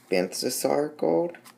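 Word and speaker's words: Balthasar Gold: For the gold, I base coat it in Banthasar gold, that's how you pronounce it.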